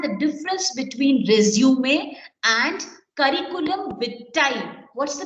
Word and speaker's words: curriculum vitae: Curriculum vitae. Speak. Curriculum vitae. Curriculum vitae. Vitae. Okay, that's the pronunciation.